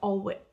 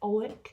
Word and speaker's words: Alnwick: I think you don't pronounce the L or the W, it's like Alnwick.